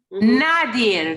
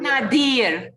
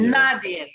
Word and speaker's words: Nadir: Nadir, not Nadir. The accent is on the first syllable. Nadir.